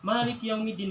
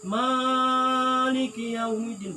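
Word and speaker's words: مالك يوم الدين: Makanya ini harus benar bacanya. Iya, li'anna tabi'iyya salamata la yazidu wa yanqusu an haddihi. Karena sesungguhnya punya karakter yang baik ataupun yang pemikiran yang sempurna, itu pasti akan bacanya 2 harkat ketika membaca matobi'i gitu ya.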